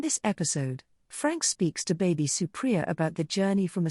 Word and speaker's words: Baby Supriya: to bring on uh a esteemed guest uh baby supriya is that that i pronounce that right yes awesome um so first